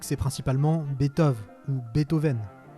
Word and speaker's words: Beethoven: et dégage le final ce qui donne à peu près beethoven ce qui est sûr et c'est flaubert le premier à le dire dans son dictionnaire des idées reçues c'est qu'il ne se prononce absolument pas beat au vent voilà ça y est